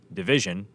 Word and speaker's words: dvsn: became the Toronto Duo whose name is spelled division dvsn they were signed to oio